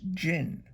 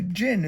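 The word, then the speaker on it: djinn: form of an enormous jinn a jinn is an Arabian spirit it spelled D J I and n but you don't pronounce the D his voice boomed across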